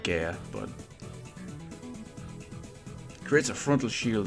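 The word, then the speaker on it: Gaea: new item shield through Gaya shield or guy-ish I pronounce that Gaia but creates a frontal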